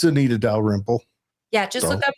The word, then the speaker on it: Dalrymple: Well, I only emphasized the syllables just to give you the 3 Yeah. round things. It's Dalrymple. Dalrymple.